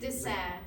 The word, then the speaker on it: Dassin: pronunciation? Dassin.